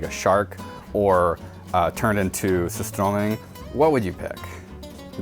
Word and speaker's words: surströmming: Have you ever had surströmming? No. Am I saying it right? Surströmming? No, sur. Sur? Sewer! Sewerströmming! Sewerströmming! Holy shit!